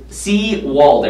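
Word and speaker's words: Sewald: It's Seawald, everybody, just so you know now.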